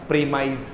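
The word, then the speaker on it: premise: देखो ये प्रेमिस था, इसी को ही प्रेमिसीज बोल दिया है, बट आपने देखा है वर्ब होते ही इसका उच्चारण क्या हो जाएगा? प्रीमाइज हो जाएगा।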